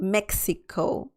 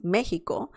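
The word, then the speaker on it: México: mexico mexico it's not the pronunciation is not mexico it's mexico or even like here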